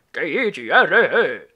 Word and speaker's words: Tigro: T-I-G-R-O. Si pronuncia Tigro.